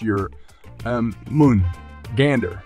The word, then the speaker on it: Jörmungandr: creatures in nor mythology and his name is pronounced your um Moon Gander also given as German Gan in meaning huge